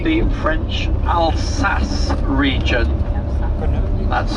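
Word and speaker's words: Alsace: interesting area uh this is called the French alas region that's spelled a l s a c French alas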